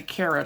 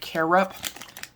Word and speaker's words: carob: Carob, I did not say carrot, I said carob.